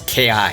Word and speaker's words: Ki: you have key Crystals at least I think that's how you pronounce it it's Ki but these crystals are found